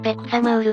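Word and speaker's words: 백사마을: 村の正式な発音はペクサマウルだ。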